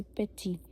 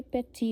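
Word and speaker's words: petit: अभी इसकी एग्जांपल है जैसे पेची पी ई टी आई टी पर जो लास्ट का टी है ये ये वाला टी है हम इसको नहीं बोलते हैं। ओके लास्ट के टी को हम नहीं प्रोनाउंस करते हैं। तो यह पेची होगा।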